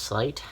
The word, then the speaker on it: sleight: up is i guess it's pronounced slight um because when you say sleight of hand i guess it's spelled like that it looks like slate or like a sleigh or something but it isn't um i know that